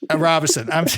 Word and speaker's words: Robison: Robison? You say it wrong like all the time. Robison.